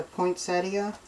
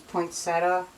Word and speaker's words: poinsettia: little stencil that's a poinsettia i've heard people say poinsettia it's poinsettia i was raised with poinsettia but um i've heard so many people call it poinsettia and this is how you say it well i'm going to